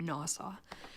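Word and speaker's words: NAWSA: Woman Suffrage Association and which people usually pronounce as an acronym NASA uh and the national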